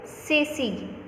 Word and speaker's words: Ceci: Ceci. Why I am speaking this word Ceci? So soft C. Why? Because C is followed by E. So the sound of C changes into S.